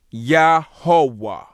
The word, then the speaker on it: Yahweh: And the pronunciation of this word would be Yahweh.